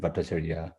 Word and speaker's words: Bhattacharya: bhattacharya i'll call you no they didn't have a clue how to pronounce your names which is why there are at least six uh um spellings and pronunciations of bhattacharya but i find that this one has become you know more or less standardized in india the way i've just pronounced it and so i prefer to go with it rather than confuse people with variety yeah that's that's that's